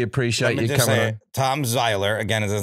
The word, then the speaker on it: Zeiler: Yeah, Tom Zeiler is Zeiler is how you say it.